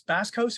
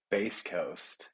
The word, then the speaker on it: Bass Coast: Music Center the uh is this Bass Coast or base Coast how do they pronounce it base Coast base Coast Festival I guess if it was basco's it'd be fishing and the sled Island